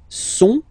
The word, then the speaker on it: sont: Ils sont, final T not pronounced, ils sont, elles sont, okay?